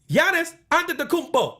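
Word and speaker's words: Giannis Antetokounmpo: a freak that is a negative connotation man Yanis under the kupo say it it's a cool name to say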